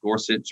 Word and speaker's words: Gorsuch: as high up as dorsey i think it's gorsuch or i think upright said it wrong too um making a